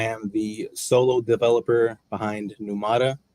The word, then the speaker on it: Pneumata: I am the solo developer behind Pneumata.